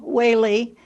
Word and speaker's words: Whaley: But the name Whaley, although it's spelled with an EA, just like President Reagan and just like the great steak that people like to eat, is an EA with a long A sound.